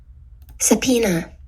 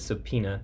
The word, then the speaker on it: subpoena: to respond to a is that how you say that hold up subpoena oh that's not how you say it subpoena okay what can Trek